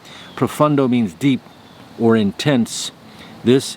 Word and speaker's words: Profondo: profumo or this one profundo aco de gio armani profundo spelled with an o but pronounced with a u profundo means deep or intense